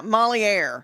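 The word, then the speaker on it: Molière: Yeah, Moliere.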